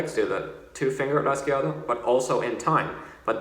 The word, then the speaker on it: rasgueado: Or you can even use the word rasgueado. Rasgueado, rasgueado. And that's 4 syllables, and that can help you keep track of your 16th notes.